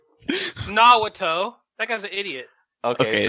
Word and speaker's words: Naruto: I need to talk about this guy He's pointing at and how to Naruto. pronounce his name.